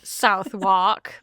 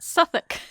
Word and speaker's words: Southwark: Okay, so uh first of all, let's address my incredibly terrible pronunciation of not Southwark, but Suffach.